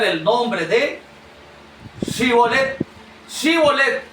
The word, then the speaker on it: Shibolet: Shibolet. S h. Sivolet. Ellos solamente podían pronunciar cbolet. Ese sin H.